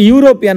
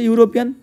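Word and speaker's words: European: সেই রকম এখানেও দেখো ইউরোপিয়ান উচ্চারণ করতে গিয়ে ইউ এর মত হচ্ছে ইউরোপিয়ান তাহলে ভাওয়েলের উচ্চারণ ইউ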